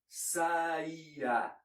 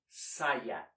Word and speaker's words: saia: Note that you never split the syllables in saia like saia, or else it sounds like something else. That's always saia.